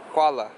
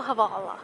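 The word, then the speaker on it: Hvala: Kuala. Kuala. Havala. No, Havala. Havala. I think.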